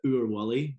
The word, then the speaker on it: Willy: That is what that is saying, but Willy is how you say it in Scottish.